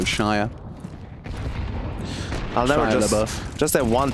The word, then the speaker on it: Shia: Oh yeah, because like Shia butter, you know, that's spelled with an E, so Shia.